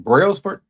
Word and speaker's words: Brailsford: Brailsford?